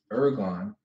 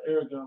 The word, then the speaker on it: ERGON: It's Strong's G 2041 ergon. Definition is, you want the How do you spell that word? ERGON. Ergon. Okay. Ergon. I thought you was like Aragon, like the movie, but anyway.